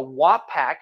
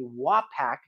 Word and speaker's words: Wapak: bucks I got a WAP pack I pronounced it correctly Wapak number 12.